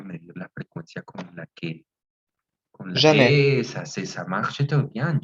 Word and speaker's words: jamais: Jamais. Oui, pouvez-vous répéter? Jamais.